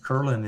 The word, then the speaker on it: Kerlin: get the part kurlin is like Merlin but with a K wonderful at klin